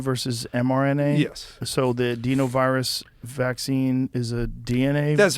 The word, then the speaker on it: adenovirus: So the adenovirus vaccine is a DNA? That's right. So they or is it adenovirus? Is that how you say it? Adenovirus, yes.